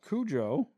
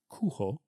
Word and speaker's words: Cujo: Uh, Kujo is not the way to pronounce the name of the dog. It's actually pronounced kuho because it's Spanish for wolf.